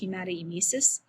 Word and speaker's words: hematemesis: what's going on so the first one is hematemesis or sometimes pronounced hematoemesis and this is where